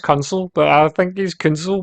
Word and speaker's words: Kunsel: It's pronounced Kunsel, but I think he's Kunsel because he's like counseling you on how to play the game.